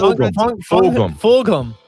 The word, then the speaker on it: Fulgham: Fulgham. The G is pronounced. Okay, so Travis Fulgham, he had himself a 42-yard touchdown catch from Wentz that pretty much put the game out of reach.